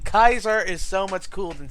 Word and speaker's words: Kaiser: Princess Celestia Points for actually giving it the hard C. Kaiser is so much cooler than Caesar.